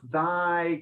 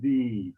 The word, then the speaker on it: thy: And you pronounced thy correctly the second time. The first one you kind of said thee, so it's thy.